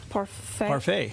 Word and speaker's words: parfait: Parfait.